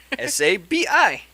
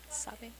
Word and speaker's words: Sabi: How do you spell it, Sean? S-A-B-I. Sabi. Sabi.